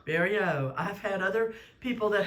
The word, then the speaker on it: Bariou: Bariou. I've had other people that had similar last name that pronounces it different. Yes. And so we can thank some Italian neighborhoods in New Jersey for the current pronunciation.